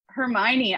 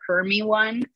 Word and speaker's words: Hermione: that it's unfortunate but when i read it i think i was not alone in mispronouncing it for having never heard the name before when i was like 11 and i think i called her herme one for most of the time i read that series um yeah that's